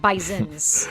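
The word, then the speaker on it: Bisons: women's game against them, they make sure you pronounce it Bisonens with a plural.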